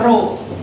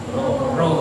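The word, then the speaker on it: rho: ini yang ini seperti huruf v bengkok namanya ro Bacanya apa Ro Ro yaitu massa jenis kemudian setelah roh Ada h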